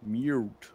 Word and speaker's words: Mute: Das heißt, es heißt nicht Mute, sondern Mute.